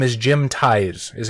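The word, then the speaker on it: Theis: written by I believe his name is Jim Thais is how it's pronounced by the way credit where credit is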